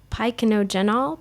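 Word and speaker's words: Pycnogenol: go ahead because I'm doing so well with pronouncing my words today go ahead paikonogenol p-y-c-n-o-g-e-n-o-l it's a dietary supplement made from the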